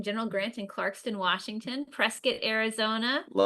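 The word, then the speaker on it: Prescott: Prescuit, Arizona. Love Prescuit. rhymes with biscuit.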